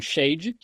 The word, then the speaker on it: shad: em nome de El Shadai o todo poderoso na verdade a palavra a palavra Hebraica shad sh a d alguns pronunciam Shade shad significa seio como